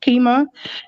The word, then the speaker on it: Qimmah: i was telling her my name is pronounced keema she was like oh